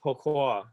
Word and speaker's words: Poquette: I'm told it's supposed to be pronounced Poquette.